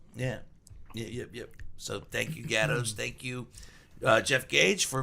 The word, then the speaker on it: Gatto: I go, it's pronounced gatto, and you guys say gattos.